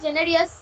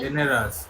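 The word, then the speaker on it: generous: তো তাই জন্য, আর তার মা খুবই জেনারিয়াস, মানে জেনারাস, জেনারাস, জেনারাস কথাটা, জেনারাস।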